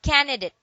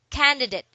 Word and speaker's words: candidate: They're just losing some letters and speaking it in a wrong manner or pronouncing it in a wrong manner. So don't say candidate. It says candidate.